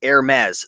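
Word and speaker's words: Hermès: H uh silent AES the H is silent Okay cool so California picking thank you for the pronunciation uh assistance Hermes so very cool $59.99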